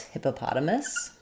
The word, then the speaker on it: hippopotamus: Um, where the stress is is on the p syllable with secondary stress on hip.